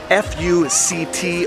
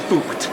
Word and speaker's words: FUCT: The case that was heard by the Supreme Court relates to a clothing brand aptly named Fuct, F-U-C-T, not pronounced that way.